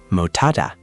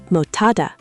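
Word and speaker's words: 못하다: In mut, the final sound is actually d, because s as a batchim becomes d. Remember that rule? Oh, right. So, it's really mot than hada. So, d plus h becomes t. Motada.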